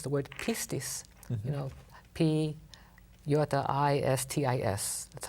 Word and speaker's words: pistis: faith, most of the time it's the word pistis. Mm-hmm. P-I-S-T-I-S. That's how you would spell it.